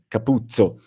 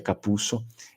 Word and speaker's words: Capuzzo: não vão fazer esse capuzzo não tudo bem o sobrenome eu sei que ele é escrito assim mas eh a pronúncia vêneta geralmente é capusso e que até inclusive